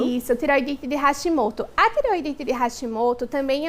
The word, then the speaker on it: Hashimoto: É assim mesmo, doutora, como eu pronunciei? Hashimoto. Isso, tireoidite de Hashimoto.